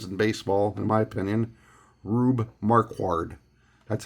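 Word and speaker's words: Rube Marquard: the classic names in baseball in my opinion rubbe marquard that's how I pronounce it rubbe marquard and again just a really cool picture I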